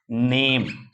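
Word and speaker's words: name: एन ए एम ई नेम ने ए का ए पढ़ रहे और अंत में जो ई आया है उसको मैं साइलेंट छोड़ दे रहा हूं ई का उच्चारण नहीं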